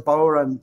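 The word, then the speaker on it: bodhrán: Boran? The Boran. Boran. Yeah. A lot of folks call it the Boran, the Boran. You know, in Ireland, it's the Boran. It's a Gaelic word.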